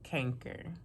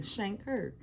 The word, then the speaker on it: chancre: You know, the chancre, I always pronounced it canker. Me too. I wonder, is it? But like you get shanker. Don't y'all shank nobody. Yeah. But shanker.